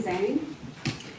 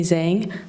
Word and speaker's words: Zheng: Zang.